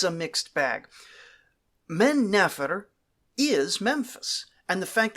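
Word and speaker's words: Mennefer: the native names but then he calls it menifer like it rhymes with Jennifer no it's men never it's man never it's pronounced very differently and this guy's not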